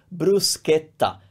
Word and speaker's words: bruschetta: on top right so bruschetta you see cha that's K it's always K it never changes it's always scared don't